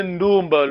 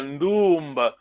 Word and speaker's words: Ndumba: Make sure you pronounce it correctly. Yeah? We say Ndumba, long vowel, Ndumba.